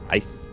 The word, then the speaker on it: AeiS: AeiS. I think it's pronounced ICE.